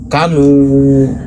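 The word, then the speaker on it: كانوا: Tulisannya kanu, dibacanya k-nya pendek, kanu.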